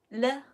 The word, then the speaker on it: 了: this very cute character the pronunciation is le how do we write